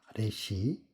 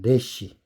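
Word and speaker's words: רֵישׁ: 레쉬. 제번 시간 베레시트에서 배운 똑같은 글자입니다. 레시.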